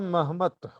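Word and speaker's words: Mehmet: मोहम्मद जो शब्द है, मोहम्मद शब्द तुर्की में उसका उच्चारण होता है महमत, और वाणी में जो महमत के जगह जगह आया है, वो महमत का ही अपभ्रंश है।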